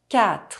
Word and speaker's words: quatre: 8 - Silent U The letter U is not pronounced when it’s between the letter Q and another vowel. Une question A question Quatre Four The letter U